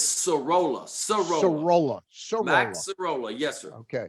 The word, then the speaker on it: Sorolla: The Orioles took a Rule 5 draft pick out of the Cincinnati Reds organization, and the pronunciation Skiroller, Mike Skiroller? It's Sorolla.